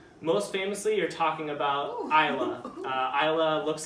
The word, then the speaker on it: Islay: This is, so when you talk about peat in Scotland, most famously you're talking about Islay. Islay looks like Islay or Islay, but it's spelled Islay, and it is famous for its peated whiskeys.